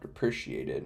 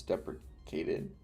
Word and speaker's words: deprecated: Is it deprecated or depre It's not depreciated. It's deprecated.